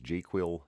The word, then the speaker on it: JQL: You'll hear me refer to that as jQuil. It's how I like to pronounce that acronym.